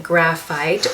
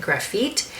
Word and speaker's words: Grafite: So here I am wearing Grafite, or I've also known people to pronounce it Grafite, but it is more of a grayish blue color.